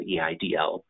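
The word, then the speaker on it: EIDL: the status of the e IDL it's pronounced idol in SBA speak so you may hear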